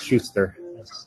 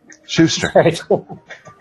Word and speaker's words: Sustr: also it's the German mix which should be pronounced as Schuster as CEO okay we just a few letters out for convenience Shuster I hear a senior manager at the IBM